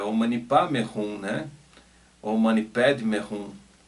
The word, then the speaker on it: Om Mani Padme Hum: E eu me lembrava muito do mantra Om Mani Padme Hum. Om Mani Padme Hum. Eu gosto muito dessa pronúncia tibetana, Padme Hum, né?